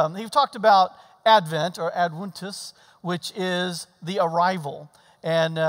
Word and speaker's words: Adventus: which in Latin, it's Adventus, because the V's are pronounced W.